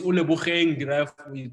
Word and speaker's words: Ole Bogeng: So it's Ole Bogeng, it's the name after my late brother.